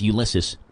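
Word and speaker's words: Ulises: Ulysses, but it's spelled weird. U-L-I-S-E-S. U-L-I-S-E-S. Ulysses.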